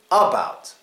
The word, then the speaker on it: about: And this one is the first syllable, the first vowel, the first letter. It gets the schwa.